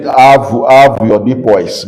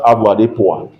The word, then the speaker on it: avoirdupois: Some call it avoirdupois, but it's pronounced avoirdupois.